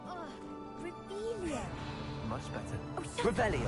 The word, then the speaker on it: Revelio: Rebellion. You're saying it wrong. Ugh, Rebellion.